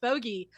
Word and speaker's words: Bogey: It's pronounced Bogey. Sure it is.